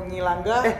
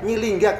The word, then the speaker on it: Nyilingga: Oh, Nyilangga? Nyilingga kok Nyilangga.